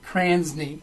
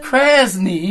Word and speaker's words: Krasny: And today, my two great guests are Robin Krasny. Wrong. Krasny. There you go.